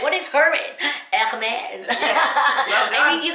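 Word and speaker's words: Hermès: I know everybody's like Hermes. I'm like, what is Hermes? Hermes.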